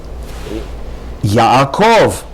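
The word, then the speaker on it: יעקב: Next word, Yaakov, not Yaakov, Yaakov. Again, in English you would say Jacob with the accent on the first syllable. In Hebrew, the proper pronunciation is not Yaakov, but rather Yaakov.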